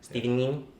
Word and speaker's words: Steven Yeun: Steven Yin. Oh. Steven Yin's Mirai. You guys gotta pronounce it right.